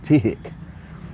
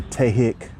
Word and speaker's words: Tihik: word, and it's called Tihik. Some people say Tihik, Tihik. It's spelled T-I-H-I-K.